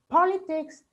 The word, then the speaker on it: politics: affected with some people so it's politics with stress on PA political with stress on